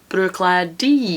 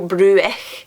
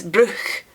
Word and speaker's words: Bruichladdich: So Bruichladdich, it's Bruichladdich. Bruichladdich. So you don't go Bruich, it's Bruch.